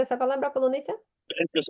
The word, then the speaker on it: полуниця: Скажи, de hecho, dime, ¿puedes pronunciar esa palabra полуниця? fresas o frutillas. Так, так. Полуниця. Скажи Україні. А ну ще раз. Fresas o frutillas. Polonezia.